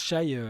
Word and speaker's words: Shai: les anciens SH given et moi ça se prononce Shay ça se prononce Shay parce que c'est comme